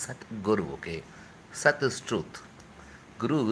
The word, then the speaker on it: Satguru: The guy called Sadhguru doesn't even know the meaning of the word Sadhguru. See, it is not even Sadhguru, it is Satguru.